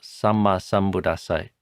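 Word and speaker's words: Sammāsambuddhassa: And the other is to pronounce double consonants. So Samma Sambuddhassa, you pronounce both M's and both D's and both S's. The 2 D's, by the way, are a hard D and then an aspirated D.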